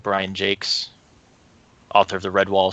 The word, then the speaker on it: Jacques: I also really like Brian Jakes, author of the Red Wall series. I love those books. Is it Jakes or is it Jocks? It's Jakes.